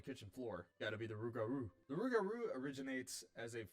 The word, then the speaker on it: Rougarou: to be pronouncing it Rougarou, because I think that's how Cajun people say it, and I'm going to do my best to say it like a Cajun person instead of like some